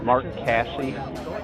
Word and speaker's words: Mark Casse: Say your name, how to spell it, and what you're Mark Casse, M-A-R-K-C-A-S-S-E, and I'm a horse trainer.